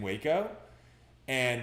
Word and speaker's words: Wacoan: Yeah, Wacoan.